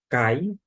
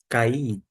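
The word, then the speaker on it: καί: Temos uma conjunção, cai, se buscar o chamado preciosismo na pronúncia, pode adotar-se cair.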